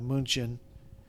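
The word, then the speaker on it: München: is Munich to uh pretty much everybody outside of Germany they call this Munich but it's uh munin in German uh Prague is owned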